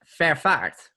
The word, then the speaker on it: Vervaart: to share it, but it's a very Dutch last name, so no one can pronounce it. It's Vervaart. Let me try to repeat that back to you. Yes. Vervaart. Yeah, it's really good. It's with 2 A's, which is just a